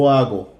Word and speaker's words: hago: okay so I'll go remember the H is silent yo hago I do or I